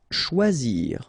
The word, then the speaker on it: choisir: Choisir, okay, remember when you combine this C and H, you get the sound sh, and then OI, wa, okay, choix, and then zir, choisir. Prononcer.